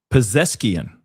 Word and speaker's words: Pezeshkian: How do you pronounce his last name? Pezeshkian.